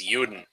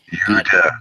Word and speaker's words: Juden: If you're gonna be German, say it right. It's Juden. Judah.